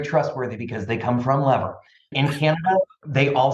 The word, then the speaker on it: Lever: and they're very trustworthy because they come from Lever in Canada they all say lever and in